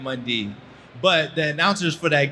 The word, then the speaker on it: Mundy: And my last name is Mundy. And my entire football career, announcers, coaches, teammates have been mispronouncing my name and calling me Ryan Monday. There is no A in my name. It is Ryan Mundy.